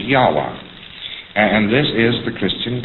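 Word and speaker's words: Yahweh: So Lord knows how this word is to be pronounced but more agreed upon pronunciation among scholars so they could talk about it is Yahwa.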